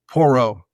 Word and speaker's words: Porro: Porro. Porro. Zorro with a P.